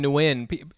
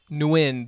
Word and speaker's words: Nguyen: worry you know honestly just don't pronounce the g it's it's easy you can and and all of them are acceptable you know win new yen you know i always say like win like win or lose that's like pretty that's